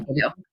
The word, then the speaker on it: de Tello: Tello.